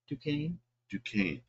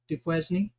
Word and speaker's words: Duquesne: How'd you pronounce that? Duquesne. Duquesne.